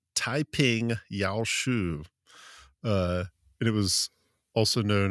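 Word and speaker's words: 太平要術: the Way of Peace, which in Mandarin is pronounced Taiping Yao Shu.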